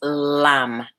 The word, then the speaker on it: Lam: From the root, the sound is Lam, L-A-M. M as in Mary.